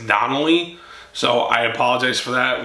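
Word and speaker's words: Darnold: I said McDonald. It's Donnelly.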